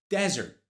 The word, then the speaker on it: desert: The one with a single S has primary stress, desert, desert, desert.